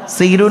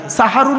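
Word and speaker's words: সাহরি: সেহরুন মানে জাদু করা আর সিনে জবর দিলে দন্তের আকার দিলে সাহারুন মানে হলো রাতের শেষ অংশের খাবারকে আরবিতে সাহারি বলে তাহলে শব্দটা কি হবে সেহেরি না সাহারি তাহলে ভুলটা ভাঙলো জলসা দেন কেন জলসা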